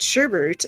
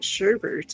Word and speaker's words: sherbet: that i learned that sherbet is not pronounced sherbet that there's no second r in sherbert i've always called it sherbert and he's like it's